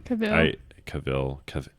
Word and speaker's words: Cavill: And Henry Cavill. That's not it. I know. I just never know how to say his last name. Is there an R in it? No, I think it's Cavill.